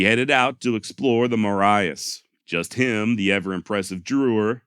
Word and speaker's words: Marias: So in all actuality, if you want to be correct, it's Maria's River, not the Marias River. However, it does appear that Montana locals do call it the Marias, so I also chose to go with that pronunciation.